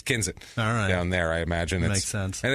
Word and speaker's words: Kensett: week to Kensit Arkansas okay and it is pronounced kenit because I did saw several local news uh broadcasts that proved that uh Ken k n s TT so you say KET no it's it's kinet down there I imagine and it's funny hearing